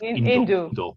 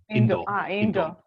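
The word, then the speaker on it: インド: So India in Japanese is pronounced Indo. Indo.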